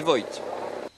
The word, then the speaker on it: Voigt: Alors, la bonne prononciation, c'est Kruijswijk et Voigt. Pour le néerlandais et l'allemand.